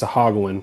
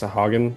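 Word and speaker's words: Sahuagin: And on the way, they were attacked by a band of murderous fish folk known as Sahaguan. I think it's pronounced Sahogan, but I don't like that.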